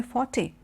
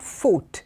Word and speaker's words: forte: say speaking as my forte or English as my forte it basically means that is what I am good at so f o R T E is not foot it is Forte that he comes in